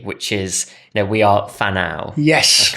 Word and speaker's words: Whānau: Now, you then set up your new organization, and I want to pronounce this correctly, which is, we are Whanau.